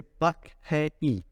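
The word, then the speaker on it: Park Hae-il: You don't pronounce the R, Franco, when you say Park They Hae don't. Il, Park Hae Il.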